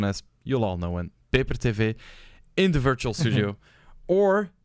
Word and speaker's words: Peper: me paper sometimes wrong sometimes people pronounce it wrong and they say pepper tv but it's paper it's paper tv yeah that's what i